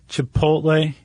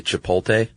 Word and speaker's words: chipotle: I was saying chipotle. I've always said that. And then Anaheim. Anaheim. Yeah, I think some people transpose the L and say chipotle.